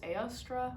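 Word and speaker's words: Eostre: dedicated to the german goddess ayostra which i believe is how you say it um and it was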